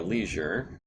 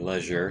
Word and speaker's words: leisure: we can scan them at our Leisure or Leisure depending on how you like to pronounce it um but yeah uh